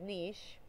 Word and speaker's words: niche: Some people pronounce that word niche. I usually say niche.